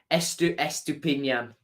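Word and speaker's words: Estupiñán: Well, for you, Owen, right now, it's S2 Pin Yan. You say it like this, Estupinian. Like that. Just like that.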